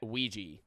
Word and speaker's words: Ouija: Like if I could only buy a Ouija board at like if I could only buy